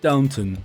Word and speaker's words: Downton: So at number one was with 31 million was Downtown Abbey, which is from that TV show, I guess. Really? You familiar with it? I'm not, and it's pronounced Downton, not downtown. It's Downton.